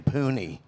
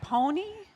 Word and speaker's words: Pooney: Just to say his name, Pooney, was weird. It wasn't Pony? No, it's Pooney.